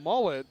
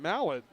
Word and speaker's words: Mullet: I was sent a message that it's pronounced Lauren Mullet, not Lauren Mallet.